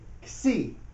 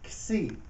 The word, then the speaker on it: Xi: That's how it is pronounced. Xi. Like waxy. Like waxy. If you said I touch something, it feels waxy. Well, the Xi sound at the end of that would be 1 letter.